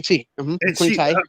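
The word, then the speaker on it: Tiye: the mummy of uh queen ty is that how you say her name to you yeah yes queen tea her hair texture is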